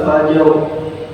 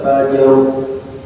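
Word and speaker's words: فجر: Semua huruf itu diucapkan. Masuk roh di situ. Wal fajr. Makanya enak kalau fajr itu mudah karena jimnya huruf qalqalah. Lebih mudah. Wal fajr.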